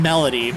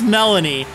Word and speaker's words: Melony: Jim winter melon Melanie keep saying melody its Melanie this is spelled interestingly I just want to